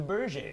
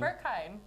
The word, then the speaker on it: Berghain: It's the Bergane. Oh, Bergane. It's Sorry, the I thought you Bergane. said Bergane. It is one of the most famous clubs. I thought it was Clubs, pronounced even. Berkheim. No, it's Bergane. no, absolutely Yeah. not. In fact, they hate it when you say it that way.